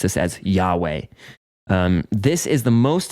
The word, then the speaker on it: Yahweh: sometimes see and um in English we typically pronounce this as Yahweh um this is the most sacred name of